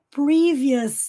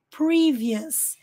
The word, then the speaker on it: previous: aqui de novo previous o o s em inglês tem som US previous Famous né para dizer famoso por exemplo nervous nervous para dizer nervoso não é nervous é nervous nervous Famous curious para dizer curioso cous então Onde tiver o u s lembrem-se que é US ignorem a letra O e fica aqui só o s com som US previous Famous curious Statement